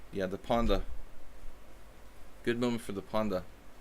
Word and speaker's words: panda: a chest panda because the pronunciation of panda in Hungarian is actually it sounds like it literally sounds like that so it sounds like pon de we don't say panda in Hungarian they say panda you know so I